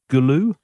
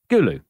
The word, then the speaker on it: Gulu: this wrong as well Galo Gulu Gulu there you go now tell me about